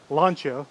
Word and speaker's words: Lancia: I guess you're supposed to pronounce it Lancia. That's the proper way of doing it.